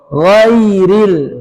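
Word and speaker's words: غير: Kalau ngoro kan cendung ke ko ini enggak ggak boleh juga jadi ggak ada tapi gho gho gho ghairil ghairil yanya ringan lembut ghairil lamnya mengalir ma tipis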